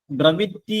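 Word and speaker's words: brevity: നല്ലൊരു വേർഡ് ആണ് ഡ്രവിറ്റി വി ആർ ഇ വി ഐ ടി വൈ ബ്രവിറ്റി എന്നാണ് അതിന്റെ ഉച്ചാരണം ബ്രവിറ്റി എന്ന് പറഞ്ഞാൽ ചുരുക്കം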